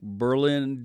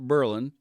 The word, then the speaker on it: Berlin: They'll be in Berlin, Ohio, pronounced like Berlin, Germany, but we call it Berlin.